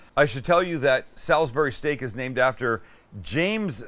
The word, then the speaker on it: Salisbury: all saying it right it's not salisbury which would be s-a-l-s like b-u-r-y it's s-a-l-i-s salisbury does it matter is anybody carrying do you know that the i is not silent yeah i don't know